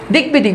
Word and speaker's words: দিগ্বিদিক: দিগ্বিদিক, বফালার উচ্চারণ রয়েছে।